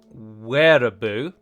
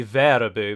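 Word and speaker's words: Wehraboo: aware of and that is a where a boo or I supposed to be probably pronounced it would be Vera boo because it's from the German Wehrmacht as I have now learned and he essentially accuses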